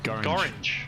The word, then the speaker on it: Gorringe: Gorringe. Yep. Gorringe. Rhymes with orange.